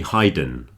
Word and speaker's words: hidden: This is why there are two D's there, so that the E doesn't change the letter I sound. So it's hidden with two D's. If it only had one D, it would be hidden. Okay, it's not hidden, it's hidden.